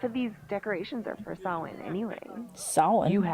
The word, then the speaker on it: Samhain: Half of these decorations are for Samhain, anyway. Samhain? You haven't been inside yet, have you? Trust me. That is not how I would have pronounced that from reading it.